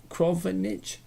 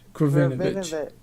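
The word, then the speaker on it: Krovinović: Is it Krovinic? Krovinovic. Thank you, Sam, for Ivanovic.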